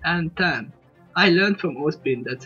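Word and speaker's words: Ozpin: I learned from Ospin, that's how it's pronounced, and sorry about Friday, I was ill and couldn't record, so here it is the backup for you.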